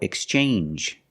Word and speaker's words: exchange: to strangers very good usually when you see NGE it makes the um sound like orange or exchange you make the n Sound not the nasal sound just um and the J like juice together Orange or exchange or